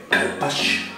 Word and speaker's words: carpaccio: Por el principio yo pronunciaba carpaccio, o carpaccio, de los montes Cárpatos, pero es carpaccio.